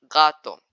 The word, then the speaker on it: gato: When G comes before other vowels like A or U in Spanish, it is pronounced as a normal G. For example, gato.